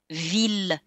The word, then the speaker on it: ville: For some reason, the language evolved to say that ILL can be pronounced either il, or like in the exception, mille, ville, tranquille, and the words that come from it, million, milliard, etc.